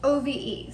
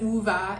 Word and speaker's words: Ove: It's spelled O-V-E, so I thought it was Ove, but Christy corrected me. I listened to the audiobook, and in the audiobook they pronounce it Uva.